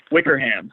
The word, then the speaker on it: Wickerham: Now, do you pronounce it Wickerham, or like an English person would, or Wickerham? Wickerham. Yep, you got it right the second time.